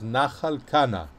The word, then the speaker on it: Nachal Kana: translation says wadi kana which is the arabic pronunciation or the arabic translation of in the the hebrew bible the original it says nachalkana and where again we are in the book